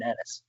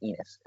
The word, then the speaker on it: Ennis: Keep your eye on Kevin Ennis. And by the way, broadcasting team, it's Ennis, not Enos.